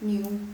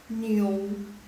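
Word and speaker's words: niu: Jadi n sama iu bacanya bukan new tapi new. Nah, kedengaran nggak o-nya? New. Kedengaran ya. Mereka native speaker yang dari China itu mereka ngomongnya seperti itu. Jadi seperti ada o di tengahnya.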